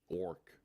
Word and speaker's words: Awrk: It's spelled weirdly though. It's AWRK. Okay. R. So it's Orc. Orc. Orc. Yeah. Okay. So it's not ORC like we normally would spell how like my people is spelled, but like Orc.